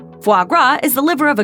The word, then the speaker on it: foie gras: Some attempts have been made to produce foie gras without force feeding, but it's hard to come by. The name is French for fat liver. Drop the S and rhyme the syllables.